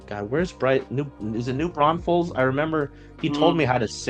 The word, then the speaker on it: New Braunfels: Is it New Braunfels? I remember he told me Mm. how to say it this past year. Your And guess is as good as mine. New Braunfels.